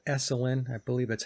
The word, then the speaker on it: Esalen: You could take a look at one of the networks of Tavistock called Esalen. I believe that's how you say it. It's Esalen, the Esalen Institute.